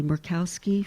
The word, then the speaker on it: Murkowski: Republican Senator Lisa, and I do not pronounce her name properly, Murkowski from Alaska.